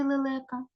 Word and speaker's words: лелека: скільки складів у слові лелека два о три склади Вибачте так тепер визначаємо наголос гукаємо Леле ти падає наголос на який склад на другий склад А тепер зробимо звуковий